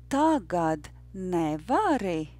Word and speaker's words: tagad nevari: And the rhythm is yes, no, yes, no, no. And I'd like you to read it together with me twice. Tagad nevari.